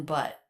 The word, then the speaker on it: but: How is the T pronounced in but? But you've told me about him. But you've told me about him. It's a stop T.